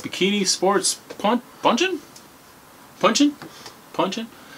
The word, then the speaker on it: Ponchin: Ponchin. Like punchin? Ponchin. Like punch. I was thinking like punch from like Eric Estrada.